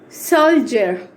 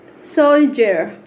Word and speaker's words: soldier: Soldier. Soldier.